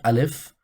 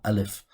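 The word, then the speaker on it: ألف: alphabet which is the it's called alif but we pronounce it as a in the or a in the english language and in this letter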